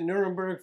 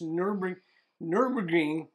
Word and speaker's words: Nürburgring: I plan to visit Nuremberg for a... it's not Nuremberg, it's Nürburgring.